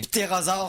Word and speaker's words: ptérosaure: les ptérosaures sont morts. Arrêtez les presses! Les ptérosaures sont morts! Ok, les ptérosaures, c'est quoi la différence? J'imagine que ça se prononce ptérosaure. C'est un P muet, comme les ptérodactyles.